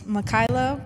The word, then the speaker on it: Makyla: It's Mikaela, but actually so you talk about like people not pronouncing your name right.